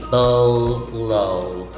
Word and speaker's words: bolo: pronounced as bolo so both os in the word have the long o sound o o so you see bow low bolo it's a tool